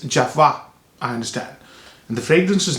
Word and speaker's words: Jovoy: a French house and the right way to pronounce the house is Java I understand and the